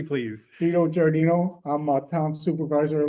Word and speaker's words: Giardino: Vito Giardino, there we go. Giardino, okay.